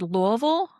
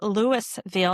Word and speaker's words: Louisville: I also want to shout out the fact that you said Louisville, which is the correct ter uh correct pronunciation of the city.